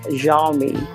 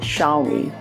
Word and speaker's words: Xiaomi: a lot of question Western bloggers were like pronouncing it jolly which makes it a bit classy to me you know it sounds classy Jean me or instead of Xiaomi okay so anyway so